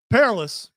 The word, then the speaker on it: Perillus: Okay, so Pherolus said, Perillus. Which pronunciation you going Pherolus said, Perillus, I need to torture these people Same guy.